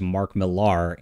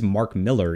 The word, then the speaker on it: Mark Millar: the internet have also it is Mark Miller even though it's spelled that way uh so sorry about